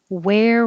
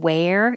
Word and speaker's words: where: theory theory peasant peasant where were so the vowel in where is air like so i spelled it air air where where and it's the same sound as what are you going to wear 39 where are where